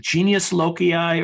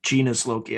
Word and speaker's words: genius loci: Is it genius loci or is it genus loci?